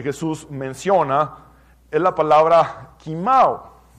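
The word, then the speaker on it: κοιμάω: menciona es la palabra kimao. Se transcribe koimao y se pronuncia kimao en griego.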